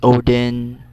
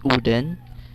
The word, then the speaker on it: Odin: we are odin but in icelandic accent it's called uden not odin it's uden it's not thor but